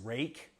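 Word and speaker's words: Ruike: apparently this is this is supposed to be pronounced rake uh for some reason i don't know why but this is the uh the rake p801sf um let's see what was the steal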